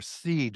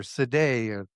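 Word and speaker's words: Sidhe: S I D H E or seed or seday. It's pronounced a hund different ways.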